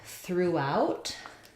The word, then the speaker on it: throughout: question about the word throughout so for throughout we have second syllable stress and I do have